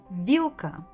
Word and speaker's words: вилка: Вилка, вилка, вилка, вилка. Stressed on the first syllable.